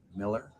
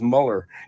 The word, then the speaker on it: Mueller: When you look at his name, I always thought it was Muller. Right. That's it. Well, we called him Bill Mueller. We called him Bill Mueller for 3 years in the minor leagues until his mom family came over and heard him announced as Mueller, and she cleared it up, and then we changed the pronunciation.